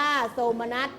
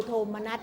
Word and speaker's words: โทมนัส: ได้ อย่าง ถูก ต้อง จำ ไว้ ว่า โทมนัส คำ ที่ ใช้ ใน ปัจจุบัน ก็ คือ โทมนัส นะ คะ ไม่ มี อะไร กลัน เลย คำ ควบ กล้ำ นัก